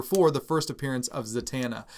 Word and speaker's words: Zatanna: of people pronounce it zantana well there's no n before the t just uh just pointing that out uh in a friendly way now not being stupid or anything like that but zatanna is the way that